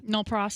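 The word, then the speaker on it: nolle pros: A written notice of nolo. How do you say that? No pros.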